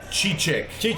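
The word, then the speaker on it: Çiçek: So how you pronounce it is Cicek. Cicek, yes. Cicek, the cheeky Cicek.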